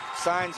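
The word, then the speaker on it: Saenz: By the way, his last name is spelled S A E N Z. Signs.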